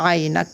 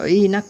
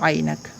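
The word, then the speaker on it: عینک: তার মধ্যে একটা হচ্ছে এটা হবে আইনাক। কি হবে? আইনে জবর, আইন ইয়া আই, নুন কাফ নাক, আইনাক মানে চশমা, ইনাক পড়বো না এটাকে, এটা শেখার সময় এভাবে শিখবো আইনাক।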